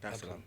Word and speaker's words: Dar es Salaam: of the 7th, to come straight to Tanzania, Dar es Salaam. Did I pronounce that right? Yeah, Dar es Salaam.